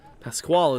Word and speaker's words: Pasquale: college is jaden shepard pasquale is actually how you pronounce his last name thank you public address